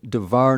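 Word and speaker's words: דבר: So with davar, we have the accent on the final syllable. In davar navi, this word, the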